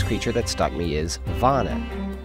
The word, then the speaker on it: wana: The Hawaiian name for the venomous creature that stung me is Vana. The English pronunciation of this name would be Wana, and this is no coincidence, as the pain their spines cause makes you wanna go home and cry.